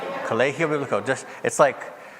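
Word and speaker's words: Colegio Bíblico: Colegio Biblico. It's spelled like college, but you don't pronounce the G, you make it an H sound.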